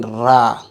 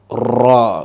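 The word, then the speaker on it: ر: about this one here stop saying ra I've told you to make it in full mouth ra good this one here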